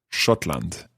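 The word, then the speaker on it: Schottland: come from scotland e comma aus scotland scotland shotland so i would say scotland so good let's hear it in your pronunciation let's try a conversation we're at a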